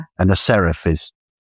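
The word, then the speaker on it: Seraph: A serif. Do you know what a serif is? No. People mispronounce it. Some people call it a Saraf, which is fascinating.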